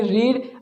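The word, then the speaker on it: read: है, ये नहीं कि रीड रीड रीड नहीं होता है। स्पेलिंग तो सेम चलती है लेकिन उसका उच्चारण अलग तरीके से होता है।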